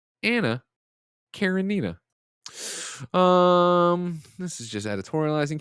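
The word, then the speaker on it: Anna Karenina: up nanobiologist writes into correct my terrible pronunciation it the tolstoy novel i was talking about it is anna karanina anna karen nina um this is just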